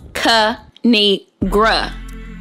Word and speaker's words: Kinigra: It's pronounced Kinigra.